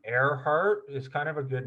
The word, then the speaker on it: Earhart: thought that her name airheart is kind of a good name for her because it's like her heart is in the sky in the air it's spelled like earhart but it's pronounced air heart so okay let's let's